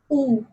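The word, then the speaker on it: où: For example, oo. Oo will be pronounced as oo because, as I said, there will be no change in sound of U when there is accent grave over it.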